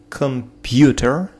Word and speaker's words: computer: Computer, computer, computer, computer, computer. На второй слог.